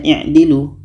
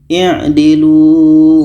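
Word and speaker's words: اعْدِلُوا: Jika huruf yang ketiga berbaris di bawah, maka hamzah wasal berbaris di bawah. Maka ini bacanya i'dilu. Kita baca, i'dilu huwa aqrab. I'dilu huwa aqrab.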